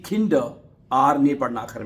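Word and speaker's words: Kinder: ठीक है, आखिर में आर आ रहा है, किंडर नहीं कहना, किंडर, किंडर है। ये बात आप याद रख लीजिए कि अगर आर लफ्ज के आखिर में आएगा तो उसको आपने खामोश रखना है, साइलेंट कर रखना है उसको।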